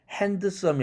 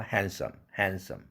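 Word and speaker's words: handsome: 그러면 드를 날려라. 그러면 발음이 핸드썸이 아니라 핸섬 이렇게 되죠. 그래서 오늘날에 이 단어도 완전히 굳어져 버렸어요. 핸드썸 하면은 틀리는 발음이 되죠. 사전에도 없는 발음이 되죠. 핸섬입니다. 제일 마지막 예 하나만 더 들어보고 연습할까요?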